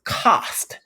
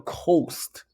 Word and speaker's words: cost: It doesn't make that long O sound, but it's still spelled with the OST at the end. But we still say cost. Cost instead of a coast. We say cost.